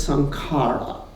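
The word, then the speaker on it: saṅkhāra: it becomes a habit the Sanskrit word for habit is song SCARA the pali pronunciation is some karma so habits can be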